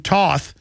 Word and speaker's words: Toth: and then we're going to have representative uh Stephen Toth or to as he pronounces it on who I just